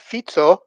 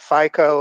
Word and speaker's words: Fico: You have FITSO, by the way. That's uh that's how it's pronounced. It's It's not FICO or something like that.